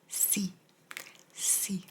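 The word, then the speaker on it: sì: is but 15 is c c literally pronounced like C C 16 is no yes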